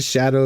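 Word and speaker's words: Scadu: later is it really Shadow I mean that would make makes sense since you're in the the shadow of the Ury okay it's it's spelled SCU but it's pronounced Shadow that's fair that's fair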